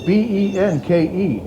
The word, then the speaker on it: Benke: Yeah, and I don't know how you pronounce that. It's Benke.